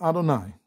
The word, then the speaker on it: Adonai: okay it says okay so thus Sith I pronounce it Adonai so be cool all right it says it's